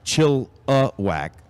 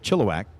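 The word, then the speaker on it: Chilliwack: bleachers says I am from chillak and it's pronounced chillak got it so chill whack yep I I actually and their motto is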